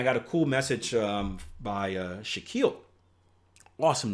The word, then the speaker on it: Shaquille: And I got a cool message by Shaquille. Awesome name, by the way, because it rhymes with Akil, and I'm super awesome.